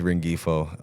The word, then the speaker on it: Rengifo: So my last name is Rengifo. Okay. Really, it's supposed to be pronounced Rengifo, but I've just always been called Rengifo.